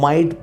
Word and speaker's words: might: का प्रयोग होता है, G साइलेंट होता है, इसलिए उसे बोला नहीं जाता, माइट बोला जाएगा।